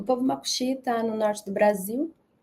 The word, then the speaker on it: Macuxi: se chama Macuxi Maimu, do paroxítona, assim, Macuxi Maimu, né? Depois fala Macuxi, né? Tem toda uma questão, assim, de pronunciar direitinho também, porque no português é oxítona, né? Fala Macuxi, e no Macuxi é Macuxi Maimu, enfim.